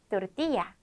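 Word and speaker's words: tortilla: 좋습니다이어서 닦고 닦고 싸먹는 거 우리 동그란 전병을 또르띠야 띠라고 합니다 이렇게 L 두 개가 사용되었을 때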